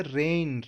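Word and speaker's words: reign: Same बोलने में हम रेन भी बोलते हैं, यानी कि वर्षा। RAIN स्पेलिंग भी अलग हो जाती है, लेकिन साउंड लगभग सेम रहती है।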